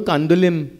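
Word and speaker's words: Candolim: Because in Konkani and in Portuguese, we don't pronounce the M. So when you land in Goa, don't say you want to go to Kandulim.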